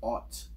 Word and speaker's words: aught: In the firearms world, a 0 is sometimes pronounced as aught, like 30-06.